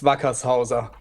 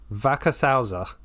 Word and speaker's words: Wackershauser: online just avoid saying your surname so please pronounce it for me that's okay it's Backus hausa Vaca salza yep that's perfect ah there you go not